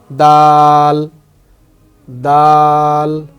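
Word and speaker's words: دال: ঠিক এই দালটাও ঠিক সেম এরকম হবে, দাল দাল। এভাবে যদি লিখি, এভাবে যদি পড়ি, দাল দাল, ঠিক এরকম উচ্চারণ হবে।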